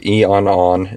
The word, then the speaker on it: Eonon: Anyways, so this is the Eonon is what they call it, how they pronounce it, the M1 unit, and it looks,